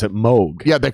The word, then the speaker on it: Moog: called yeah yeah yeah yeah yeah they actually pronounce it moog yeah they pronounce it mug yep yep and it's the moga fogger but